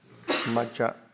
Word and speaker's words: Majja: Oh, Sura Meraya, Majja, so it's like 2 J's together, Majja, Pamadatana, So majja is more like different types of drugs.